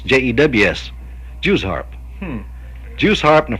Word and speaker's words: jew's-harp: harp yeah now that that's another pronunciation know the juice harp it is jew's-harp je WS harp but I think any Kentuckian or most any country blog call them Jews harps Jews harps yeah and